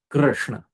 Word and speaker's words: Krishna: This R is a vowel, it's not a consonant in Krishna. So you have to have that sound. Krishna, Krishna, Krishna, Hare Krishna, Hare Krishna, Krishna, Krishna, Hare Hare.